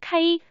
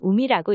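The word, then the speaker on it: 海: 예를 들어 바다해라는 한자를 읽는 방법은 음독으로는 카이, 훈독으로는 우미라고 읽습니다.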